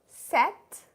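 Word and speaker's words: sept: Set. P is silent.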